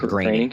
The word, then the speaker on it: Groening: Groening.